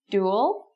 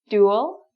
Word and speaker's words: dual: Dual, this is how we would write it phonetically, for those of you who know the International Phonetic Alphabet. It would be spelt like this. So it's a really strong DU sound.